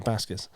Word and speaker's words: Baskis: Baskis. Yeah, Baskis.